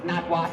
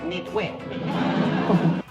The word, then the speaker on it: Nitwit: You first of all, you've got my name wrong. Correction. Name misspelled. Please give correct letter. Well, I correct letter is I. name is not notw what but nitwit.